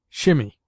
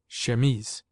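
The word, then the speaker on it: chemise: We derive from the French language our word she pronounced shememes. In French the word denotes a man's shirt as well as the undergarment worn by women. In this country, it is often pronounced by people who should know better. Shimmy.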